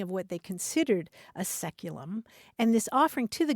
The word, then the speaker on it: saeculum: Anthony says the word that this caller is looking for is the Latin word saeculum, S-A-E-C-U-L-U-M, which in English is pronounced seculum.